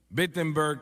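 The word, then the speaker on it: Wittenberg: Alemania o no perdón empieza con una W pero se pronuncia como una B vettenberg Alemania y clava sus 95 tesis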